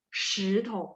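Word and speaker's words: 石头: Kalau batu itu 石头 SHI 石头, sh-nya nada dua ya.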